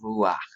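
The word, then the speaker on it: רוח: It looks like a ha, but it's ruach.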